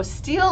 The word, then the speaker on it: Steel: Oh, okay, so Steele is about to come in. By the way, guys, we've been spelling his name wrong. He's Steel, like the metal. No E at the end.